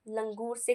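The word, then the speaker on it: languorous: एक और लिख लो, लंगूर के तरीके से याद करेंगे, प्रोनाउंसिएशन लंगूर, इसे लंगूर, LANGUOR, फिर OUS, लैंगूरस।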